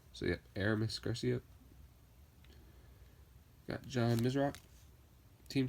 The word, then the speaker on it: Aramis: so happy get rhombus all right it's actually pronounced Aramis so yeah Aramis Garcia got john mizerock team said he actually